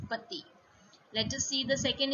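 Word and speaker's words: petits: But the pronunciation for both these words remains the same. This is also petit, and in plural also it is petit.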